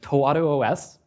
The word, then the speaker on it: ToaruOS: do you pronounce that the answer is it's toos it's Japanese it means something along